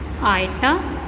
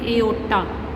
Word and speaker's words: iota: I is iota or you can say aorta. Pronunciation है बच्चे I नहीं कहना, this is iota or aorta.